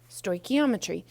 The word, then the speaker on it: stoichiometry: called something called Stoichiometry now that word sounds a little crazy so kind of follow along with the pronunciation with me say it out loud wherever you are stoic stoichiometry so what it is like